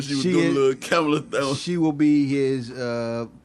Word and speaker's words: Kamala: Kamala. Yeah. Like the girl from Games, remember from Saturday Night Live. Right. I just remember when she was doing the little Kamala thing.